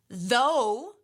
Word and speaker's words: though: COFF COFF right cough the ough sounds like off and though it sounds like oh it's the same spelling Oh ugh at the end but the pronunciation is different so we have to